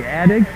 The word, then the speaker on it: Attig: Taking it out is or inbounding it, Jennifer Addig. Going down low. There's now too many steps here by Jennifer Attig. I hope I'm pronouncing that name right. A-T-T-I-G. Attig? Attig, okay.